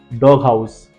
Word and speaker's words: doghouse: Second, big head, big head, ये 2 spelling है जहां पर देख सकते हो हमने इसको GH को हमने पढ़ा है, लेकिन स्टूडेंट्स ध्यान से देखेंगे, ये स्पेलिंग के 2 पार्ट पढ़ते हैं। जैसे डॉग हाउस, डॉग एंड हाउस, लेकिन एक साथ ही बोला जाता है, दैट इज वाई GH वहां पे दिख रहा है, डॉग हाउस।